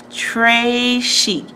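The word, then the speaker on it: très chic: it like a bracelet tray chic you say it like this trey chic it means very fancy and the gravy is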